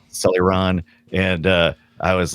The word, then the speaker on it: Celeron: And I was like, I think that's how you say it, right? Celluron. Celeron, I think. Celeron.